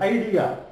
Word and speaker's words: idea: Same spelling here, separately pronounced in this word, idea.